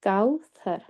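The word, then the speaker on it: كوثر: काऊ, and then सा जो है, ये सीन की आवाज़ नहीं देगा, ये सॉफ्ट सा है, जो कि अपनी हम ज़ुबान को जब थोड़ा-सा बाहर निकाल कर सा के साथ प्रोनाउंस करते हैं इसको, तो इसकी अदायगी होती है। तो इसकी अदायगी में नरमी है, काउसर।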